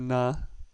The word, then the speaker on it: nacionalidad: in rule number 1, so therefore our last syllable gets the stress. Nacionalidad. That's where the emphasis is, on the dad.